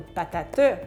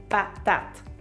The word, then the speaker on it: patate: la conscience de l'écrit, et donc le « e », qui est muet dans le mot patate, ne se dit pas. Donc, on ne dit pas une patate, 3 syllabes, on dit une patate, 2 syllabes.